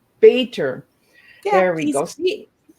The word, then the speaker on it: Bator: Bator. Bator. Yeah, there we go. See, sometimes I pronounce the letters instead of the flow of the word, right?